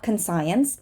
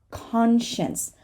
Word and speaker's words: conscience: it can be sent this is not conscience it is conscience conscience conscience it's this thing that